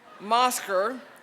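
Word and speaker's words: Mousecar: a Walt Disney World Mosker. It says here it rhymes with Oscar. Mosker.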